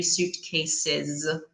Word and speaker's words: suitcase: that's a note e suitcase like fruit or Tom Cruise exactly accommodation now different